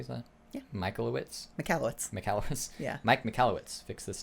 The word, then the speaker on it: Michalowicz: McAllowitz.